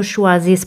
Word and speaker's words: choisissent: Como os dije antes, E-N-T, que es E-N-T, no se pronuncian. Ils ne choisissent pas mon travail.